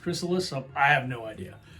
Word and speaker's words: Chrysalis: pronounces it's slightly different i've always pronounced that gracilis so i don't know um i was told it's actually pronounced chrysalis so i have no